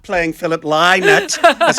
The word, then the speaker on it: Lynott: Kathryn Thomas, but I'm not playing Philip Lynott.